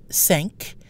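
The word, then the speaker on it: cinq: example the key when the number 5 sank is still pronounced when followed by a vowel sanka me now let's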